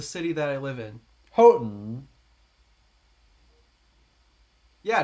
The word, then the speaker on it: Houghton: Houghton. Yeah, notice the T is basically silent.